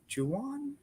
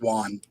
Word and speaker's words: Juan: Is it Juwan? Hopefully I'm saying it right. It's Juan. Juan.